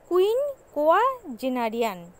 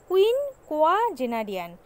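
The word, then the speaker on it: quinquagenarian: বছর বয়স তাকে কি বলে, এক কথায় প্রকাশ, উচ্চারণটা ভালো করে দেখবে, কুইন কোয়া জেনারিয়ান, কুইন কোয়া জেনারিয়ান, মানে কুইন কোয়া জেনারিয়ান শব্দের অর্থ হচ্ছে 50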